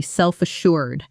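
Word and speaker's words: self-assured: Example, even as junior employee, she was remarkably self- assured, never afraid to share her ideas in meetings full of senior staff. Pronunciation self assured. The stress lands on shured.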